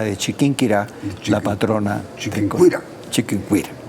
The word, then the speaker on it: Chiquinquirá: Chiquinquirá. Él sí puede pronunciar bien. Así decía Juan Pablo II, Chiquinquirá.